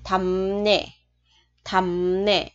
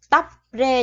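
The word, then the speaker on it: 답례: Bờ mà gặp r thì chỗ bờ này mình sẽ đọc là m, và chỗ r này mình sẽ chuyển sang đọc là n. Vậy chỗ này mình thành m nè, chỗ này mình thành n nè, thì thành là thầm nè chứ không phải là tóc rê nha các bạn.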